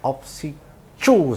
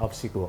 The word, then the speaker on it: OBSICU: kita beri judul tadi opsi cuu sebenarnya bacanya opsiku Obrolan Seputar Credit Union